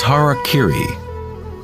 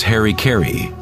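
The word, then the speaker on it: hara-kiri: In the samurai tradition, one form of ritual suicide or sapuku was hariri was often mispronounced as Harry Kerry.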